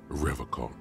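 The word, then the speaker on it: Revachol: his feet he pronounces rivercon with a hard K unlike other people uh let's see you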